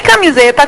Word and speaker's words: camiseta: Em camiseta, qual é a sílaba que mais se prolonga? Dá uma chamadinha. Camiseta. Não é esse Z aqui? É uma paroxítona, não é?